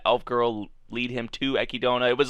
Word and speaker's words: Echidna: of the previous episode which apparently how you pronounce her name is ekidona how how she said i think i was pronouncing it like echidna or something like that but how she said